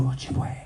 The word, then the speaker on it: Ojibwe: Yeah, you got kind of whisper though, Ojibwe. It rhymes with lingerie.